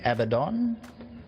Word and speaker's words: Abaddon: we're gonna go with Abaddon there's three different ways of pronouncing it we're going avadon future of energy has